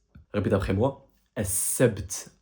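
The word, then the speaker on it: السبت: Le samedi, en arabe, on prononce ça. As-sabt. As-sabt. Répète après moi. As-sabt.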